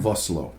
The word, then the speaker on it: Vosloo: the professional, cool-headed leader of this group, but Vosloo, is that how you say his name? Vosloo.